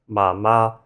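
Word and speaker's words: 奶奶: But in actuality, you pronounce this as nǎinai.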